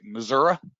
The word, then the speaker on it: Missouri: the great state of missouri or if you want to pronounce it right missouri and it's the show